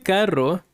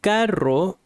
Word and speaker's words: carro: Este carro está igual de caro que los otros. So you need to learn to roll the R. Este carro está igual de caro, caro, caro, carro, caro, expensive, carro, car.